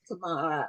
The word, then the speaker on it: Tamara: like tomorrow, but just Tamara.